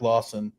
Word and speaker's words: Lawson: that's a Eric Lars Eric Lawson not Larson Lawson okay and this is